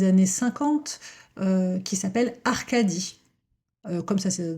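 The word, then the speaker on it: Arcadie: euh qui s'appelle Arcadi euh comme ça se prononce A R C A D I E.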